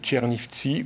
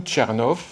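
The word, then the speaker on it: Chernivtsi: réseau relief et puis l'université de tchernifsi ou Tchernov selon la prononciation en Ukraine qui naturellement ne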